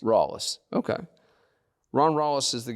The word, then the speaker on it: Rallis: different ways up here what's the proper greenville pronunciation rallies rawliss okay ron wallace is